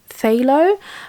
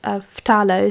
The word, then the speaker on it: phthalo: oh I know that some people like to pronounce it as phthalo that to me sounds completely weird I'm sorry I won't be pronouncing it like that and there was a bit of a debate even amongst my viewers and someone left a really useful comment that I think an oxford dictionary it is shown as Fatalis so you do pronounce the PHS F and kind of make sense